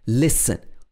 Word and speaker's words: listen: like to build columns sometimes t can be silent in the middle of the word for example in listen in s-t-e-n listen also in castle castle